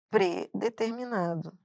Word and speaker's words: predeterminado: Ó, a pessoa fala assim: "Ah, ela tá pré-determinada". Não é, ele está predeterminado.